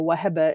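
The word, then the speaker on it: Wahba: name started out as Waba or Waba is how you actually pronounce it in Arabic and over time uh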